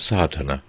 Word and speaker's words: Sadhana: about the pronouncing of sadhana the accent falls decisively on the first a which has the broad sound of the letter chapter 1 the relation